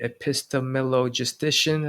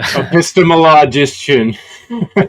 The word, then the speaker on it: epistemologician: It's uh called the epistemillogistician, I think. And uh epistemologician. None of us ever said it right in the whole interview.